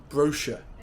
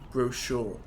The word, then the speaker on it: brochure: apricot in American English brochure in British English would be brochure in American English British people say controversy